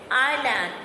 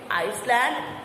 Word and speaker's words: island: Next, island. Now here I am saying island. Why I am not saying Iceland? Because S is silent. So it is island.